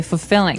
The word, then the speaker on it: fulfilling: You don't say fulfilling. No, you say fulfilling. Fulfilling. So the L there is kind of silent. Kind of optional.